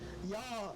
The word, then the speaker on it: Yauw: Because my name Yah is an acronym. You know, first of all, Yah is spelled Y-A-U-W, and it means you are ultimately worthy.